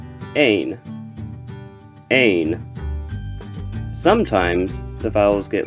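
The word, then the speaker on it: אין: And the word Ein means there is not or there are not. Ein.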